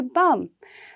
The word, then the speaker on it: balm: Now next is balm. We don't say balm, right? The L remains silent. It will be only balm.